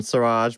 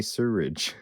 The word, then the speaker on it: Siraj: from siraj uh paris he's written suraj brackets not fuss about the paris just don't call me sewridge you got it